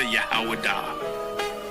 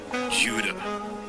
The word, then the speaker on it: Judah: When I say Judah, Yahawadah. That is the ancient pronunciation of the word. There is something special about you, Judah.